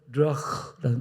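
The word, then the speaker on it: רוח: 하나님께서 생기를 불어 놓으셨는데 그 생기가 히브리 원으로 르아흐라는 단어입니다. 한번 여러분 발음해 볼까요? 르흐 흑자를 길게 빼야 됩니다.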